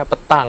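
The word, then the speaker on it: pétanque: namanya agak sulit disebutkan tulisannya peta gue tapi dibacanya petang gitu ya petang ini kalau misalnya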